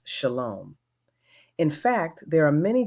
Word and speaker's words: shalom: It is a greeting used by people of all Abrahamic faiths, except that an H has been inserted for Hebrew, and it is pronounced shalom.